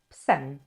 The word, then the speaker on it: psem: We're losing this main syllable, we're losing the main vowel. So pies now becomes shortened, ps, plus the ending, psem.